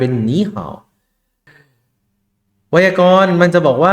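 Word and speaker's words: 你好: หนี่ เห็น มั้ย ครับ มัน อ่าน ว่า หนี่ แล้ว ก็ เฮอ เอา เฮา เฮา เา เหา ๆ เห็น มั้ย ตัว นี้ อ่าน ว่า นี่ ตรง นี้ อ่าน ว่า เห่า เอ๊ะ แต่ ทำไม เวลา อ่าน ติด กัน มัน กลาย เป็น นี้ ห่า ไวยากรณ์ มัน จะ บอก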